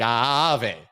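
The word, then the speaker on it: Aave: A. Like Ave. Got to pronounce both A's.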